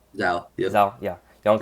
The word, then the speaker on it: Zhou: Yongkang Zhou, right? Zhao.